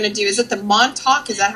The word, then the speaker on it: Montauk: And then Saturday we're going to do, is it the Montauk? Is that how you pronounce that? The monster? Montauk? Montauk.